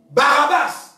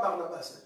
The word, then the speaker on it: Barabbas: Barabbas, pas Barnabas. Barabbas, merci. C'est Barabbas.